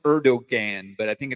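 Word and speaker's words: Erdoğan: It looks like Erdogan, but I think it's pronounced Erdogan. I think it's Erdogan. Yeah, it's that's the way it looks. It looks like that, but I think it's pronounced a Erdogan.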